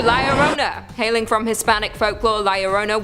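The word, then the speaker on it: La Llorona: Hailing from Hispanic folklore, Laurona, which I'm pronouncing correctly now after you guys yelled at me in a previous video, is also known as the whailing woman or even the crier.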